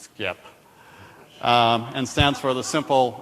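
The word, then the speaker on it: Sxip: drives so over at skip which obviously is pronounced skip and stands for the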